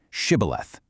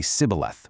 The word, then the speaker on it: Shibboleth: Because of strict regional dialects that developed over generations of these tribes living apart, an Ephraimite physically could not pronounce that heavy sh sound. Instead, he would slip up and say Sibboleth with a soft S.